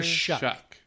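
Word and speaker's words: Shough: do you say his name again shuck Shu Shuck s h o u g h shuck no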